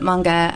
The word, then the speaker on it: manga: why I pronounce it manga um there's been a really big movement in the US to call it manga that's actually the Japanese pronunciation oh okay so it's